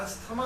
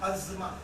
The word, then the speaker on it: asthma: इसे अस्थमा को, ये प्रोनाउंसिएशन अस्थमा बिल्कुल गलत है। Is wrong, completely wrong. इसका 2 ही लाइन का प्रोनाउंसिएशन है, अज़मा।